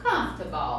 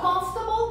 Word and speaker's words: comfortable: Comfortable. Comfortable quando você está sentindo bem, confortável, relaxado, de boas.